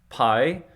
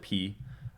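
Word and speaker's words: π: O is an O Pi uh technically they pronounce it p uh we say Pi here in English but technically they would have pronounced it p uh so this is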